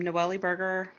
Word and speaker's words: Noellie Burger: um noelly burger um a lot of people don't know how to pronounce my name even george c romero it up i still give him for her um but it's n-o-e-l-l-i-e burger just like the food so you always told